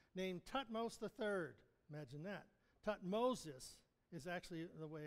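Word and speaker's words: Thutmosis: has a son named tmos III imagine that tutmosis is actually the way it's pronounced tutmosis II and when they have this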